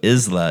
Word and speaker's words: Isla: So Isla is a Spanish word for island and also a Scottish given name pronounced Isla, which has no relation to the English word isle.